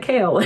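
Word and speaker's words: Chaol: It's spelled like this, but it sounds like Kale.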